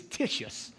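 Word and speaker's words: Titius: a man named tisus see y'all thought it was Titus but it's not it's tisus that's how you got to say his name too tisus appreciate that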